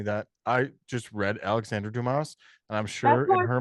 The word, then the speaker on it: Dumas: I said Dumas earlier and I feel like an now. That's okay. No, you're pronouncing him as he should be pron I